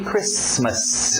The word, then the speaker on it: Christmas: Merry Christmas. O T é mudo, não pronuncia esse T.